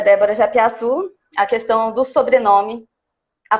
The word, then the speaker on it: Japiassu: É Japiaçu que pronuncia? Japiaçu.